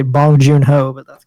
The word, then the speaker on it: Bong Joon-ho: you say his name bones you know is how I heard a Korean person I could say bong joon-ho oh I thought it was like bunch you know or something whatever oh